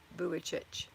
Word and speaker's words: Vujicic: Thank you for putting that in phonetically for me. Vujicic.